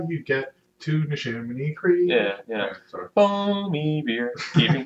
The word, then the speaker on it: Neshaminy: And now they stopped at Neshaminy Creek Brewing.